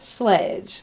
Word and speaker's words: Slxdgx: great I'm doing great your name is interesting not because of sledge but how it's spelled explain that so the reason why it's spelled SLX dgx is cuz originally with Sledge someone took that name so I ended up taking the ease and making them exit and really so I